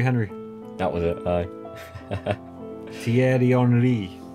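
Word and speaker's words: Thierry Henry: Brazil but that was French yeah he's yeah pronunciation and spell Terry Henry that was it I tier onri Terry Henry who else is on that list D you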